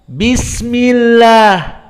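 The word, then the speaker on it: بسم الله: Basmalah apa kita baca bismillah tidak Bismillah ya Lutfi bedakan Bismillah Dengan Bismillah beda mana yang benar bismillah karena dia sebelumnya kasrah jadi Abdul jalalah Allahnya tidak dibaca tebal bismillah namun jika sebelumnya fathah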